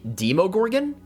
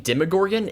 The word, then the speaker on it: Demogorgon: to point out that the official pronunciation of demogorgan according to Dragon magazine number 93 is actually demogorgan however I prefer saying demogorgan it just rolls off the tongue better I personally think it sounds better and it's also how they pronounce it in stranger things so for this video